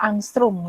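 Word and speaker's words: ångström: dengan panjang gelombangnya 800 ini bacanya angstrum Ya angstrong satu Armstrong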